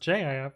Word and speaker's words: Gif: But there's a town near Paris called GIF, and it's pronounced JIF.